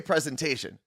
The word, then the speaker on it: presentation: so here's the thing why does adding the the shun at the end of present make us make us take this s and change it to a z that's what we all